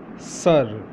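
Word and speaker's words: سر: First one, S-A-R, sir. Sir. How to say in Urdu? Sir. Sir. Have you ever heard S-I-R? Sir, the same pronunciation is this one, sir, S-A-R, sir.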